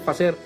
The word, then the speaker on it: facer: Facer en ladino, utilizando finalmente los sefardíes en ladino se dice facer, utilizando finalmente esta expresión para todo este tipo de textos.